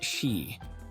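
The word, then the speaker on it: 四: The number four is pronounced like she meaning death and the number nine is pronounced like kurushimi meaning suffering.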